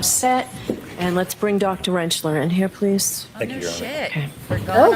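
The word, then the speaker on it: Rentschler: Could you please state your name for the record and spell it? Uh, Dr. Wrenchler.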